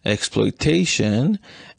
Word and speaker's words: exploitation: Note that the difference in written between explanation and exploitation is that the second syllable of explanation has a reduced vowel, but this syllable in exploitation has a full vowel.